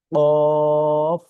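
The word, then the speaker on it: قاف: এই হরফটি উচ্চারণ করার ক্ষেত্রে একটু গলায় বাড়ি দেয়, যেরকম প, প, প, এই, এই, ও, ঠিক আছে, একটু আমাদের গলায় একটু বাড়ি দিবে। এই হরফের উচ্চারণ বাংলাতে অফ।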